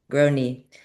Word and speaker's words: Grony: And you say it's grow, and then a pain in your kneecap or something. I forget. Groan, and then because your knee hurts, grow knee.